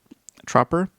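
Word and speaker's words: Tropper: According to Variety, uh Jonathan Troper Troper that's how you pronounce his name.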